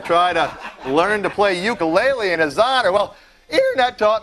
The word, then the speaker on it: ukulele: Um, actually the the proper Hawaiian pronunciation of it is ukulele.